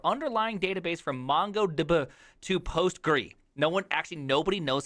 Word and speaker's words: PostgreSQL: It is the unpronounceable word because usually it's like PostgreSQL or is it PostgreSQL? Like we don't know. Is it Postgres or Postgre? I'm a Postgres type of gentleman. I say Postgres when I invite people to code with me.